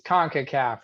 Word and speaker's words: CONCACAF: show for you tune in um concacaf it's concacaf right you got it nailed all right i